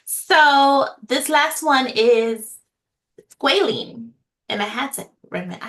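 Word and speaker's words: squalane: Okay, so this last one is squaline. And I had to I had to ask how to pronounce that, but it's spelled s q a l a n e. Squaline is how it is pronounced.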